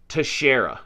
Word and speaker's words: Teixeira: Guardsman and uh his name is Jack Douglas to Shara I had to look look at the pronunciation because it's spelled like texarea which hey